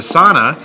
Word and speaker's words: sauna: I know we have to wrap here, but I did go into the sauna. There's a sauna culture in Oslo. Yes. Is the sauna? I'll pronounce it as they do. Yeah. Sauna.